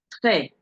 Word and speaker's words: très: Très, très. Can you see how I'm pronouncing the E here? Because it has a sound graph on it.